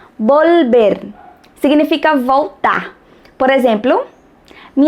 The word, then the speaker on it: volver: Ó, atenção aí na pronúncia do L. Volver.